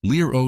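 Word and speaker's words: LEROS: The main engine was a Britishbuilt unit called the Los 2B, pronounced Lero 2B, made by a company called NAMO at their facility in Westcot, England.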